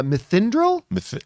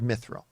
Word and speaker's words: mithril: it's either they've just now discovered i always mispronounce it uh methyndral oh mythical myth it that they just now discovered mithril that that's they've now discovered this this metal